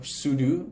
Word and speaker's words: sudo: commands will require uh sudo or sudo as some people we pronounce it which is probably correct because super user do sudo it sounds weird because most people say sudo but sudo is probably correct um so you can